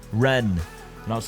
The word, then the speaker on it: Rennes: that I absolutely despise, including Rennes, or somebody told me it's actually pronounced Ren, and I was like, I don't care.